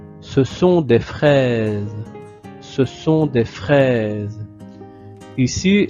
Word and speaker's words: fraises: au milieu d'un mot, le S se prononce aussi comme la lettre Z. Donc comme le son de Z, comme dans les oranges. Ici, on va prononcer ce sont des fraises. Je vais exagérer. Ce sont des fraises. OK, donc vous devez le prononcer avec modération.